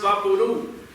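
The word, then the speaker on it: Vaporú: Vaporu is pronounced Vaporu, like loud or chew.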